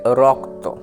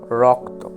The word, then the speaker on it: রক্ত: কয়ে দেওয়া আছে আছে তাহলে র এবং ক এত এর যে উচ্চারণ সেটা হবে রক্ত রক্ত কেননা র এবং তার